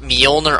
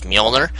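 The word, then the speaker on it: Mjolnir: is this armor covered in well it's called molner armor and and it's spelled MJ o l n i r I believe molner it's actually named after Thor this Hammer Thor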